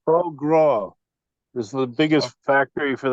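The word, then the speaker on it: foie gras: tell you one thing if you if you wanted me to pronounce that it's pronounced Pro Gro this the biggest Factory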